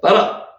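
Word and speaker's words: בָּרָא: 바라. 글자 한번 보세요. 바라. 그러니까 앞에 나오는 글자 처음에 잘 읽히시면 뒤에 것도 따라 읽히실 수 있습니다. 이거는 바라 읽히시죠, 이제. 바라. 비읍의 아 발음이고요. 라의 아 발음이요.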